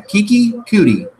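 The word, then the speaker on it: Keke Coutee: But Kiki Cootie, the rookie, stepped up in his absence. So Cootie. Yeah, Kiki Cootie. That's how you pronounce it. I'm pretty sure.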